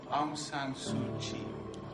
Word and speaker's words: Aung San Suu Kyi: Aung San Suu Kyi.